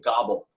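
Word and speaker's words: Gabel: And I remember we had a great researcher named Dave Gobble, G-A-B-E-L, not like a turkey, although it was pronounced that way.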